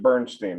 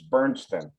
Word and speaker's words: Bernstein: I'm not going to pronounce it Bernstein. It's Bernstein.